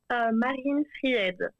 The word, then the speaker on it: Marine Fried: And I don't want to butcher the pronunciation of your name. How do you say your name there? Marine Fried.